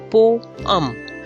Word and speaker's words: poem: last syllable lease police most commonly pronounced as poem but its correct pronunciation is poem po um not poem not poem po hum poem have you ironed your